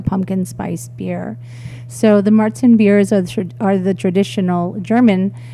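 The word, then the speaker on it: Märzen: So the Marzen beers are the traditional German. It's called Marzen because in German it's March.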